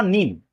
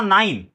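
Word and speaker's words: nine: अगर इ नहीं होता तो क्या नाम होता उसका? नीन। होता। यहां तक क्या नाम होता उसका? एन आई एन नीन। लेकिन यहां पर क्या लग गया? इ तो यहां पर हो गया नाइन।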